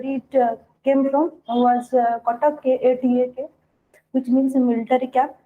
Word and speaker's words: Cuttack: That is, we often pronounce the name Cuttack, but the actual name that where it came from was Cuttack, Katak, which means a military camp or army base.